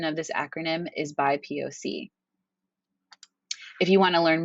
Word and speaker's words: BIPOC: My pronunciation of this acronym is BIPOC.